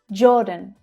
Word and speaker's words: Jordan: Jordan, Jordan. Again, the j consonant sound, followed by the or vowel sound. Or as in door. Jordan. Jordan. The second syllable is unstressed. Jordan.